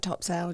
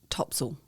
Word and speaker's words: Topsail: It sounds like Topsail, just like Craig has been pronouncing it. But actually, if you speak to a local, they're going to call it Topsail.